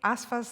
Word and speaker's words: Asifa: as you might suppose the i in her first name is silent aspha and the i in her last name is e Majid it is a great pleasure to Welcome asva majeed to the podium